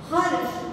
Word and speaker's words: हर्ष: है, क्या है, देखो रेफ का उच्चारण उस वर्ण से पहले करते हैं जिस वर्ण पर इसे लगाते हैं, यानी कि देखो यहाँ पे हर्ष, यह जो शब्द है इस हर्ष शब्द में ह के बाद हम र का उच्चारण करते हैं, लेकिन हम रेफ जो